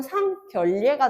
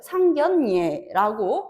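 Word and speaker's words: 상견례: 그럼 상결례가 되는데 그건 엄청난 결례겠지 그지? 그래서 상견 서로 얼굴을 보고 인사를 드리는 예절은 상견 예. 니은으로 발음이 되죠. 상견예라고 발음이 되는 것이죠.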